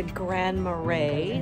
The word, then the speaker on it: Grand Marais: it pretty so we made it to grand marais that's how they pronounce it and it was supposed to be